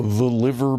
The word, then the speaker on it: Liver: The liver building. Cook them in the liver. Not pronounced like the organ liver.